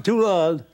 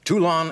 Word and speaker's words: Toulon: Did I pronounce the town right? Is it Toulon? Toulon. Toulon, yes.